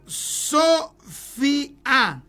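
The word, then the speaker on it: sophia: Ahí se ocupa la palabra Sofia.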